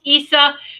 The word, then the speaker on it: Isa: say Isa but it's it's Isa but it's Issa that's how it's pronounced Issa for you too all right it's uh sometimes